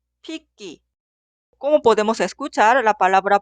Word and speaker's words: 핏기: Esta palabra se pronuncia 핏기 o 핏기.